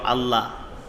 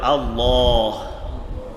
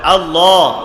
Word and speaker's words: আল্লাহ: অনেকেই কয় আল্লাহ, অনেকেই বলে আল্লাহ, নামের মধ্যে একদম পাতলা করে। কিন্তু আল্লাহ নামটা এত মধুর, উচ্চারণ করার সময় মুখটাকে একটু গোল করে, লামটাকে মোটা করে উচ্চারণ করতে হবে আল্লাহ। বলেন সবাই আল্লাহ।